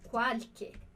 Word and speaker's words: qualche: E outro detalhe dessa frase é o som que a gente tem aqui na palavra qualche. Qualche, esse CH. CH em italiano vai ter esse som de QU ou de K, tá bem, né?